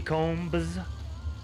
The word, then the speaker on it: Combs: so we got next Michael Combs silent B Combs right lane Tommy Zimmerman